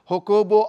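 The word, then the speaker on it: Jacobo: as well as captain हो कोबो आरब वो जे को साइलेंट प्रोनाउंस करते हैं ना ज कोबो को हा कोबो बोलते हैं तो उन्होंने मिलिट्री डिक्टेटरशिप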